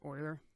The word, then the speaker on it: Euler: you recall or Euler is spelled humor but pronounced Euler all those theorem applies to polyhedrons this is